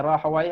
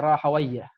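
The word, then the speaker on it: راهويه: Ada yang bacanya Rahawai, ada yang bacanya Rahawayah. Ishaq ibn Rahawayah atau Ishaq ibn Rahawai.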